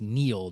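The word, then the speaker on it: Niall: And then, of course, I called him Nile. I believe it's actually pronounced Neil. Neil Ferguson was the British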